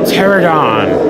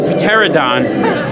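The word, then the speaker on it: Pteranodon: irritator we have a pterodon just so all of you kids know at home his name does start with a P but the p is silent his name's not the peteradon or the pterodactyl yeah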